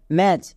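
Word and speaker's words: match: সি এইচ ব্যাচ next M এ সি এইচ ম্যাচ এখানে দেখো টি এর উচ্চারণ হচ্ছে না কেন হচ্ছে না কারণ টি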